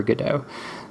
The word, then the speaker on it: Godot: the play Waiting for Godot so that's how I'm gonna be pronouncing that I am NOT going to be saying Godot ok cool so if